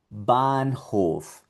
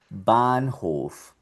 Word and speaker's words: Bahnhof: Aquí también ves una H seguida de una consonante que es la N. Bahnhof. Bahnhof.